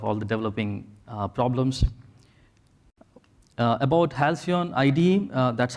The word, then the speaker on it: Halcyon: About Halcyon IDE, that's how you pronounce it.